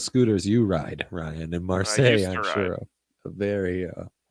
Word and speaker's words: Marseille: How do you pronounce it? Marseille, yes.